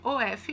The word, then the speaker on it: of: Lembrando que o of se escreve OF, mas se pronuncia OV, então é of, ok?